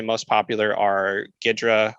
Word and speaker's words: Ghidra: say most popular are gidra or ghidra as it's probably pronounced as well as ida